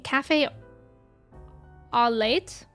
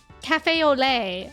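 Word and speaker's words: café au lait: Cafe Olay. Ah. Oh, right. Because T's aren't like pronounced in French.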